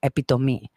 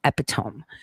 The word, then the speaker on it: epitome: as epitome right and that is the correct way of stating it too epitomy uh you know epitome so um another question